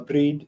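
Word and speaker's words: Brigid: or breed uh yeah we usually pronounce it Bridget here but uh breed is uh okay she's an important deity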